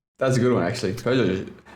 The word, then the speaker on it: Peugeot: Peugeot. I always thought that Peugeot was like pronounced Pidgeot because of like I was a big Pokemon fan.